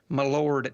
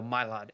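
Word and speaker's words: Mylod: model mylad my Lord how do you say his last name my Lord no mylad m-y-l-o-d um he uh folks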